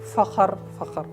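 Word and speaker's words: فخر: word, but it's like fakhr. It's not the correct Arabic pronunciation. In Arabic, with kha, sukun, fakhr.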